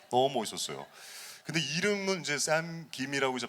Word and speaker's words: 샘 김: 우리나라 그 성 김이니네 근데 자연스럽게 샘 하면 어 킴으로 갈 거 같은데 김으로 이렇게 발음해야 되니까 조금 신경 쓰게 발음을 하게 되는 거 같긴 해요 또